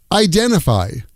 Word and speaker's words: identify: Identify becomes idenify.